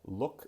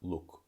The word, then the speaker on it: look: So that's why I want to hear a real vowel like look and not like look, look.